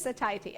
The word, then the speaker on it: satiety: It is satiety.